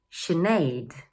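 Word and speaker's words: Sinéad: And number two is: shi-neid. Number three is pronounced: eye-la.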